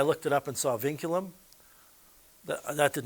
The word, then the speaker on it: vinculum: the name of this thing it's called the vinculum pronounce Ving as in Ving and then culum vinculum